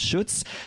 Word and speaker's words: Schutz: Now he made it easy for me because he said it's like Schultz without the L, and we know some Schultzes, so that was really good.